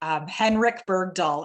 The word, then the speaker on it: Henrik Bergdahl: Henrik Bergdahl, am I pronouncing that correctly, Henrik?